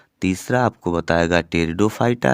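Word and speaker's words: Pteridophyta: जो तीसरा बेटा जगत था उस जगत का नाम था टेरिडोफाइटा। क्या? टेरिडोफाइटा। पी साइलेंट रहेगा।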